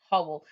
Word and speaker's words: whole: h as what okay but it's a silent w it's just making the sound whole and that's when that's